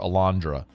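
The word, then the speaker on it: Alejandra: said how about a match Lorette opportunity for Alandra going to work on how to spell Alandra as well um spell it for the people real quick well it's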